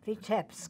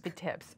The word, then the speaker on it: Vitebsk: Vitebsk. Vitebsk.